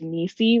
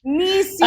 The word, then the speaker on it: Nisi: It's not spelled phonetically. It's Nisi, like Niecy Nash. Nisi!